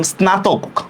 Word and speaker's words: স্নাতক: যেমন দেখেন ন ফলার উচ্চারণও হয়। আমি যদি বলি স্নান, দেখেন তো ন ফলার উচ্চারণ হইতেছে কিনা? স্নান। তারপর লিখলাম স্নাতক, ন ফলার উচ্চারণ হইতেছে কিনা? হয়েছে? হয়েছে? ন ফলার উচ্চারণ স্নান, স্নাতক।